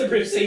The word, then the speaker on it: Abruzzi: Mike Abruzzi, whose name is pronounced Abruzzi.